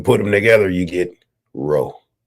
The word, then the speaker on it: RO3: them together you get row right so you don't pronounce it Row three you pronounce it row but people are going